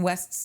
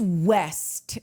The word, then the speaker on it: West: Although I do just need to say, it is West. It is not Wes.